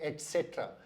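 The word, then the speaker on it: et cetera: इसका सही प्रोनाउंसिएशन है एटसेट्रा। एटसेट्रा का मतलब होता है एंड मोर। ये लैटिन शब्द का बना हुआ है एटसेट्रा। Eight means and, सेट्रा means more. तो आगे से इसका सही उच्चारण करें, ये एटसेट्रा नहीं है, ये एटसेट्रा है।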